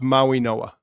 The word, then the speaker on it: Mauigoa: and it's pronounced Muawe Noah. Muawe Noah.